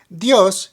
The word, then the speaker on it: dios: next we have di which means God created dios means God as most of you know but